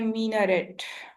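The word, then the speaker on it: minaret: Okay class, next one इज मीनारेट, ठीक है, ये मैनारेट नहीं है, इट इज मीनारेट। मीनारेट, like you have to pronounce it like M double E, मीनारेट, ठीक है।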